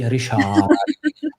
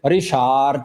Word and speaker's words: Richard: Pronounce his name correctly in the Dutch way. Rishard because if you guys Richard he love if he's called by Rishard.